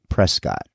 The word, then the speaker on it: Prescott: William H Prescott and yes William pronounced his name Prescott as was pretty typical amongst his Boston contemporaries from which he hailed and as I'd learned